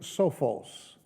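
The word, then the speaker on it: σοφός: The word wise that James uses here is the word which is translated from the Greek sophos. I think I pronounced that fairly close.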